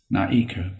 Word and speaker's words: Naeku: So I created Naeku, pronounced Na-E-Ku.